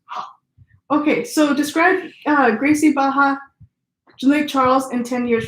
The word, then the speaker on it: Barra: So Baja? R's in Portuguese are like J's in Spanish. Okay, so They're Baja. pronounced ha. Okay, so describe Gracie Baja Lake Charles in 10 years from now.